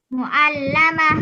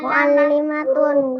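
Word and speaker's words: مُعَلِّمَةٌ: Kemudian sampingnya ini Muallamah guru perempuan. Muallimatun perempuan. iya bacanya muallimatun.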